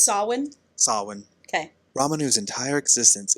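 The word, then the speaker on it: Samhain: chance to get it back will be during sawin when the shadow Market opens and Magic folk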